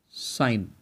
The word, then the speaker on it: sine: six terms this s we will call it sign spellings are s i n e but actually